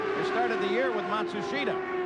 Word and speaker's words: Matsushita: Oh he tells Machusta what he thinks or Matsushida however you pronounce his name now. Yeah they they change it about every 6 months they say the pronunciation is now Matsushita.